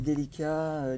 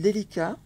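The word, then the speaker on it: Delica: Les perles, les délicats, les Miyuki, on les trouvait nulle part.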